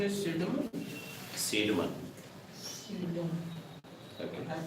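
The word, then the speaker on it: Cædmon: Pronunciation is Seidman. Seidman. Okay. I pronunciate it Kedman.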